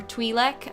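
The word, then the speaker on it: Twi'lek: be the um the Twilights yeah or twilek I suppose that's how it's actually pronounced I always like the sound of TWY more than Twee yeah Tweety sounds weird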